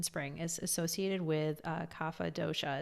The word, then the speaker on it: kapha: so ayurveda in spring is associated with uh kapha dosha it's spelled k-a-p-h-a and in sanskrit the word capo